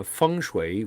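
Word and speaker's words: 风水: yeah exactly and uh funu which is how it's properly pronounced in in Mandarin is wind and water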